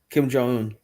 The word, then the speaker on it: Kim Jong-un: like well Kim Jong he is how you pronounce his name Kim Jong-un so Kim Jong is he he's a bum